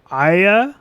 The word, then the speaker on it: Arya: for game of thrones do you call her aya arya or arya why do you keep saying i yeah because that's what the you know the english part of their accent will pronounce it like that ah yeah arya yeah